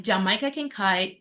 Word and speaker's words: Jamaica Kincaid: Readers like Jamaica Kincaid are like important that's the right pronunciation, yeah.